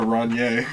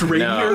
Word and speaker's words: Rainier: It's a Ranye. A run. It's pronounced Rainier.